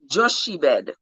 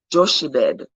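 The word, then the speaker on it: Jochebed: of amram's wife was joshi bed joshy bed that's how i'm pronouncing it j-o-c-h-e-b-e-d joke the daughter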